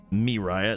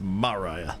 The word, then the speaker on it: Mariah: Mariah. Not Miah. It's Mariah. There we are.